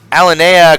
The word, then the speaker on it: Alinea: Alinea Christensen. Yep. Oh, wait. Was that the pronunciation?